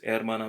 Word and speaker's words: hermana: It might be el hermana because there is an H at the beginning and it's kind of considered as a vowel in some cases because it's silent, and it's always silent, by the way, in Spanish.